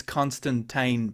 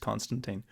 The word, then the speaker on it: Constantine: Yeah, it is Constantine per the original creator, but in the film it's pronounced Constantine. But and it, yeah, Keanu Reeves film.